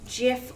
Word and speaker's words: GIF: and widely recognized as gifts the debate is between the HAR G soft G pronunciation Jif or gif all of this started